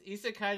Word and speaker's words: isekai: is this an isekai did you spell it right uh no but you did say it right it's isakkai is like one word uh i-s-e-k-a-i oh that's so funny